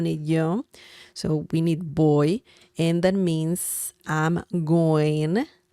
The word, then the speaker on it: voy: So boy, I know the pronunciation is like the English word boy, B as in bell, O-Y, boy, because the V sound in Spanish is similar to B as in bell in English.